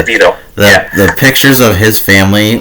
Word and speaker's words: DeVito: And you know me, I had to go with Mama, But our boy Tommy DeVito, right? Am I pronouncing that correct? No. DeVito.